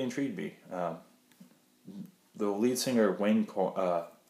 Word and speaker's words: Wayne Coyne: The lead singer, Wayne Coyne, Wayne Coyne, I believe that's how you say it, talked about like